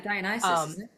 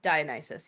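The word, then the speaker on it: Dionysus: you'd say that one in So yeah, Dianisis. Dianisis. Yes, that's how they say it. Yes. Dianisis.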